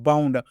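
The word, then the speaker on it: bound: बी ओ यू एन डी क्या पढ़ना है बाउंड आउट के रूप उच्चारण करेंगे।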